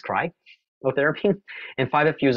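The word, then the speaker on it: cryotherapy: is you'll win and cry therapy should be PR pronounced cry therapy and five of you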